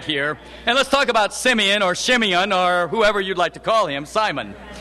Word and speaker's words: Simeon: You know, Simeon could be pronounced Shimeon, or in other ways.